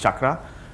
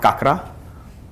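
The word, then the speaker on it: Cakra: as well the pronunciation C is CH in Indonesian that's why it's pronounced chakra not khakhra or chakra so some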